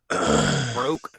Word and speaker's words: Vrock: From the V Rock. Broke, as I've heard some people call him. How do you say it? Vrock. That's the way I've always said it too.